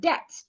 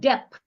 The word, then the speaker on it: debt: Also sometimes when you have letter T after letter B as in the word debt the letter B in this word is silent debt. When you owe someone that's debt it's not depth. It is not dep.